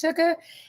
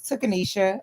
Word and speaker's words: Tuka: I go by coach Tuka and the name Coach Tuka represents the fact that my name is very uniquely spelled. Okay, commonly mispronounced as Tukisha.